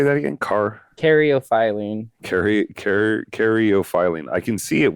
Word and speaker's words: caryophyllene: Caryophyllene.